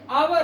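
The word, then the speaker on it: hour: और यहां पे हावर नहीं है। ये आवर है। H silent.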